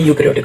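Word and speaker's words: eukaryotic: प्रोकैरियोटिक cell क्या होता है, यूकैरियोटिक सेल क्या होता है। ई साइलेंट होता है तो इसको पढ़ा जाता है यूकैरियोटिक सेल।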